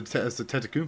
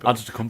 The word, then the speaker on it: Antetokounmpo: Almost as hard as the Tetakumpo. Antetokounmpo, But I can actually spell a Tetakumpo. Wait, A-N-T-E-K... No. Oh, okay. Well, I'll take a look because I've got him. He's down for JBT. A-N-T-E-T Antetokounmpo.